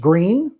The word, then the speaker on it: Gruene: If you move to New Braunfels, one name you're going to hear constantly is Gruene Historic District pronounced 'Green.'